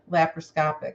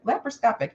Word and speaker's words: laparoscopic: long as it was pre laproscopic laparoscopic did I say that laproscopy yeah laparoscopic so I did say it right okay yep no because